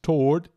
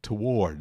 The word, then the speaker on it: toward: pandemia global e t tem duas pronúncias possíveis toward e toward dá um pouquinho uma separação ass quase um iato ali toward as duas são válidas tá tudo valendo e pandemic pandemic pandemic que